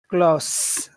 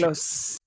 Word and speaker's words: close: so that's one difference it's the sound of the s one sounds like a snake and one sounds like a bee but you know there's